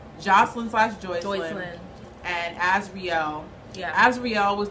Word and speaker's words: Joycelyn: How did she pronounce it? Jocelyn or Joycelyn? Joycelyn.